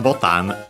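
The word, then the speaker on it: ボタン: And then botan, button. Again, unaccented. And it's actually from Portuguese, that's why it's slightly different from button. Portuguese botão. Yeah, so that's why it becomes totan.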